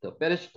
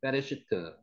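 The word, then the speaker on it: בראשית: 태초에 베레시트 한번 해보세요. 베레시트.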